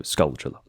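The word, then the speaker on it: Gold Skulltula: to get a gold scullula from here or scaltula. I do try to use the chula pronunciation in the same way that I would say tarantula. So, skull chula.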